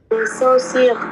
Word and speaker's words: chaussures: Chaussures, ça haut talon.